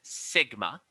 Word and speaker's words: sigma: through example so this right here which is pronounced sigma is the standard deviation sometimes we may talk